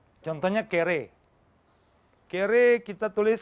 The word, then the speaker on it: kere: Jadi bahasa Kreol itu adalah bahasa Portugis yang diucapkan dan ditulis seperti yang diucapkan. Contohnya kere. Kere kita tulis K-E-R-E, kere.